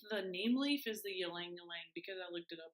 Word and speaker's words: ylang ylang: Called, oh, it's not Y, it's pronounced like E. So ylang ylang. Ylang ylang.